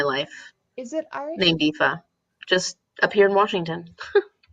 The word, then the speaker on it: Aoife: But it was originally I can't think of it. Aoife. Aoife. Okay, yeah. That's a very. That's how you pronounce it.